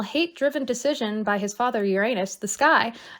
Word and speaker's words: Uranus: Yes, Mother Earth, and then, Uranus, who was the, say it like a grown-up, Uranus. No. That's how it's pronounced. Oh, is it? Yes, they teach us to say Uranus in like science class because they don't want